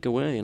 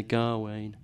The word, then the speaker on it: Gawain: re rebelliousness you know most people tend to say G way um but I know from the text or I'm I'm convinced from the text that uh that we are able to pronounce it both ways uh sometimes the poet alliterates on the G sound sometimes on on the w and I've always grown